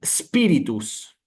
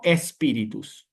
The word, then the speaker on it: spiritus: Hay que empezar propiamente con la letra S, como hacen los italianos, ¿sí? Para esto, pequeño paréntesis, los italianos están muy acostumbrados a palabras que inician con la letra S, entonces lo desarrollan con más facilidad. Es aquí spiritus, no espíritus, que es nuestra palabra en español, ¿sí?